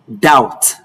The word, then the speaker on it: doubt: I need you to understand that it is the sound that comes before the B or after the B that is pronounced.